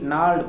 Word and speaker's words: gnarled: gnarled pronunciation क्या है?